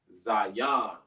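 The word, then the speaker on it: Zayin: Remember, it's pronounced Zion. Z-A-Yon. When you say it fast, it sounds like Zai, as in Z-I-Yon. So sometimes you're supposed to say Zion, but we kind of say it like so fast, like Zion. So it kind of sounds like a Z-I. But it's actually pronounced Zion.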